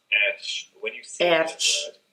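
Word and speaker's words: ř: The actual letter itself is pronounced ersh.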